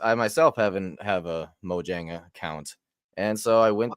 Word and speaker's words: Mojang: the nice things about is it Mojang or moyang I've heard it pronounced both ways before I like moang I don't think it matters Mojang yeah sorry sweds for all of you uh Swedish people out there I'm gonna pronounce it incorrectly um Mojang's super cool